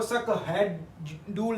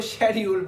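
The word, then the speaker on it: schedule: है ह वाली यानी हम इसको सक हैडल नहीं पढ़ते हम इसको शेड्यूल पढ़ते हैं इसलिए य तीनों लेटर्स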